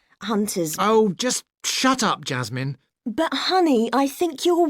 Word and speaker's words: Jasmine: He doesn't put stress on min in Jasmine. Just Jazz is stressed and not min.